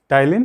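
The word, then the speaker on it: ptyalin: टाइलिन को English में पीटाइलिन लिखा जाता है, लेकिन पी क्या होता है? साइलेंट रहता है। पी क्या रहता है? साइलेंट रहता है। इसको टाइलिन कहते हैं।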